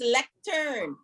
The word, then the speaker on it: lectern: I want to remind us that the word is lectern. It was mispronounced a few times this evening, so let's practice.